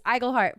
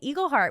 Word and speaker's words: Igleheart: check igle heart Lindsay correct yourself it's igle heart for so long I've been saying Eagle heart which I don't know even why I would be saying that because it's spelled igleheart James wrot igleheart check